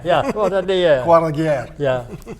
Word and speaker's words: Croix de Guerre: Croix de Guerre? Yeah. What did the Croix de Guerre.